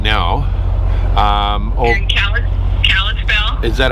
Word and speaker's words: Kalispell: You're in Kalispell?